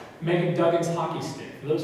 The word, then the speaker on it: Meghan: also have on display meghan who is pronounced megan duggan's hockey stick for